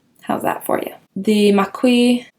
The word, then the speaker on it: Maqui: The Maqui, I think that's how you say it. It's kind of how it's spelled.